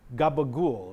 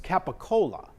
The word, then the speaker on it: capicola: know what that is it's capicola but they just say gabagool because hey they didn't know how to pronounce it anyway you know